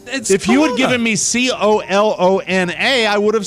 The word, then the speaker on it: Kalona: uh south of kelana is that how you pronounce colona yes how do you spell it k-a-l-o-n-a oh see it was uh typed c-o-l-o-n-n it was a phonetic spelling like jerry colon of the comics probably really you gave